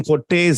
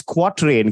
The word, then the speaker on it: quatrain: quart rain all right I call them Cortes it's easy to pronounce actual pronunciation is quatrain can you believe that